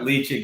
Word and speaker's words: Ledaig: But yeah, but Ledaig is definitely the right pronunciation.